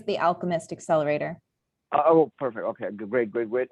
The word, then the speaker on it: Alchemist: Then you took up an active role, and is it AI Chemist Accelerator? How do you say that? It's the Alchemist Accelerator.